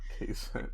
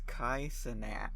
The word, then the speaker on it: Kai Cenat: Is it not K-Cent? Is that how you say it? It's Kai Cenat.